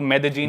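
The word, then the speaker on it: Medellín: Spelling में उसमें double L आते हैं। मेदलीन होता है लेकिन कोलंबियन स्पैनिश में ल को ज बोलते हैं। तो मेजीन वो शायद उसकी मेन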